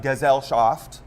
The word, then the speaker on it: Gesellschaft: It was the first Gesellschaft of the Did year. we decide on that? I think it's a hard G. It's a German word, so it's a hard G, right?